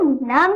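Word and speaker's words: numb: Okay friends, ध्यान रखिए एम के बाद अगर बी आ जाए तो बी साइलेंट रहता है, मतलब हम लोग बी को प्रोनाउंस नहीं करेंगे। ओके फ्रेंड्स, ये वाला नम है।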